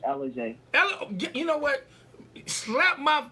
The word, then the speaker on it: Ellujai: Is it Ellujai? No, it's Ellujai.